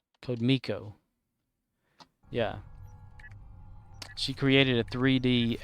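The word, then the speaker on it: CodeMiko: Have you ever watched Code was it Code Mika? The Twitch technician is the one character is called created Code damn it, what is it called? Am I saying it right? Code Miko.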